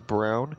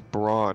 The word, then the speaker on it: Braun: I read his name, you guys call him Brown, like Braun. You pronounce it as Brown. When I read it, I pronounce it as Brawn. So I've Oh, yeah. never, yeah, see, because I when I read it, it reads to me like Braun, like Brawn, like he's strong.